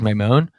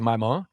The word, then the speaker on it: Maimon: My World because of my last name, which is Maimon. At least that's the American pronunciation. Technically, it's Maimon, Maimone. There used to be an I at the end too, so whatever. But the point is it's pronounced My, and so I was